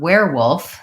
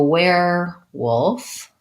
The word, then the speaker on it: werewolf: as were wolf yeah so where wolf is actually like this kind of where or this kind of where so it has the air diphthong rather than the sound were they are